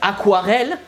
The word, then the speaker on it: aquarelle: So to pronounce aquarelle, well, the first thing is the A. And it literally sounds like, you know, ah!